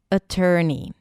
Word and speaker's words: attorney: So we start with a schwa sound, then ter, as in turkey, and then ni, attorney.